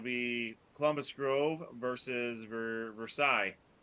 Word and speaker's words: Versailles: Columbus Grove versus ver Versailles verses veres ver they they actually do pronounce the verses part um I think we